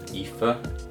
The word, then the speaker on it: Aoife: So I believe her name is Aoife O'Donovan. I believe that's how you say it.